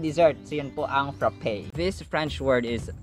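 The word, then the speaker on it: frappé: No, it's not frap. It's frappe. Frappe.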